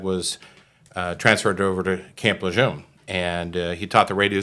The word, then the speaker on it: Lejeune: heard until recently when they started promoting the correct pronunciation of Camp Lejeune. But to me, it's still Camp Lejeune. Yeah, there's no R in there.